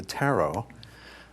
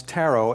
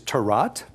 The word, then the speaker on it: tarot: wonder and mystery now you may hear me pronounce tarot as taro or taro actually either pronunciation is fine the only one that is not is tarat that's what we leave bad vegetables to do so taro or